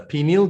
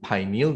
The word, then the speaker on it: pineal: And some people pronounce it as a pineal gland, but I would rather call it pineal gland because it takes after the name pine cone, all right?